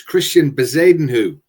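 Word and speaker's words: Christiaan Bezuidenhout: And the second one, I do go for the pronunciations. It's Christian Bezadenhu.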